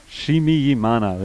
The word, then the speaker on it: Nshimiyimana: Chimiyimana, by the way, I know I've had a lot of trouble saying his name over the course of the day. Nshimiyimana. And that's why I think I was saying it wrong. Chimiyimana is the correct pronunciation.